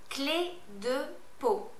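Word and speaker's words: Clé de Peau: Just say it phonetically like I say it. All right, let's start. Yves Saint Laurent. Vichy. Bourjois. Cle de Peau.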